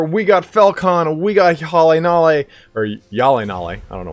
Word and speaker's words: HjalleNalle: He told me it is called, that's how you pronounce it, HjalleNalle.